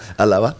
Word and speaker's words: Allaoua: And you pronounce it very well. Yeah. Allaoua.